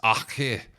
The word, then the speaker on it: RG: And it isn't RG Snyman, it's Achir Snyman is leaving Munster.